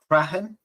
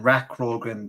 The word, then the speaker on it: Rathcroghan: Uh, Rahen versus Talica. They are, uh, that's me pronouncing as best I can, Oscar. And I made the big mistake of saying Rakroen before uh, for my video